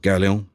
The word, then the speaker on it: Gaoleon: I say it like he's French. Gaoleon.